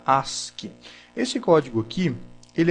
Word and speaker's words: ASCII: o código as que se escreve a sc e já se fala se pronuncia ask esse código aqui ele